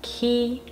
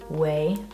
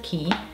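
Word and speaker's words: Quay: of blue light glasses these ones are from key that's how you pronounce them i believe i used to say way but i think it's key uh these are just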